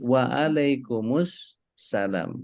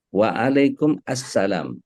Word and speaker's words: Wa'alaikumussalam: adalah pengucapan Waalaikumsalam Warahmatullahi Sebagian ulama menyatakan jangan menjawab Waalaikumsalam tapi waalaikummussalam karena alif lam dari as-salam itu kalau kita lihat lafaznya Waalaikumsalam Waalaikumsalam itu harus ada assalamnya Mesti ikut karena dia